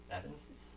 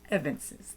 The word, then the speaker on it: evinces: I guess I should have looked up the pronunciation. Evances? Evinces, there you go.